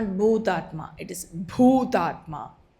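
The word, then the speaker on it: भूतात्मा: It's not Bhutatma, it is Bhutatma. It's pronounced with an aspiration.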